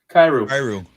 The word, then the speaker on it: Kyrou: Jordan, how do you pronounce his name? Kyrou.